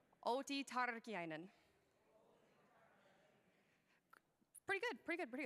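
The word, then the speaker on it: Outi Tarkiainen: t tardy einen okay I know you guys can roll your R's better than that turkey einen OT turkey einen pretty good pretty good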